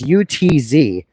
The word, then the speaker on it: Utz: a town dispute about how to pronounce that word, it's UTZ.